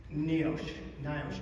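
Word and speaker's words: NIOSH: Issue number one that the other glaring issue NEO Nosh depending on how you want to pronounce it the National Institute of Occupational Safety and Health.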